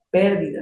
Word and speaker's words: pérdida: decir lloro por la pérdida de mi madre. Ah, lloro por la pérdida de mi madre. Pérdida acento en la E se refiere tal vez